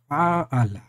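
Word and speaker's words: فاعل: It is a long vowel in alif after the first radical, so the pronunciation will be fa'ala.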